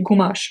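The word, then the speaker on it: gommage: like you say they in french you say gomash but how do you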